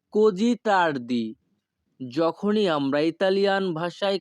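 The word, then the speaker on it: così: এত দেরি হচ্ছে কেন এই বাক্যের ইতালিয়ান ভাষা হবে পেরকে এ কোজি তার্দি। পেরকে এ কোজি তার্দি। এখানে ই এর উচ্চারণ হবে এ, আর এস আই এর উচ্চারণ হবে জি। পেরকে এ কোজি তার্দি।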